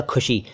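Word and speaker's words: ख़ुशी: खुशी शब्द को खुशी कह देते हैं लोग, खुशी या खुशी, गलत है, खुशी कहा करें, खुशी, खुशी, वही जो खुदा में आपको बताया था, खुशी।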